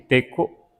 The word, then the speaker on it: teco: Iteco Luis, Ininchichi Iteco Fíjense cómo o sea, o, u y teco, co. O sea, es una o, no abro tanto la boca. No abrimos tanto la boca para decir esa o, u.